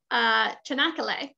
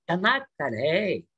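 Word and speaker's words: Çanakkale: The Chanakale. Chanakale. Chanakale. The CH is what I always get stuck on. You don't sound American anymore. You're sounding more and more Turkish. Chanakale.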